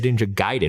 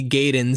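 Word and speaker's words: Ninja Gaiden: I was actually impressed they said nja giden which I believe is the correct pronunciation some I feel like some characters say gayen some say giden and there's one scene where Jenny Lewis like kind of over pronounces it and she's like know you know I was like just like had someone on set to like you know like be like by the way it's not gayen and like you know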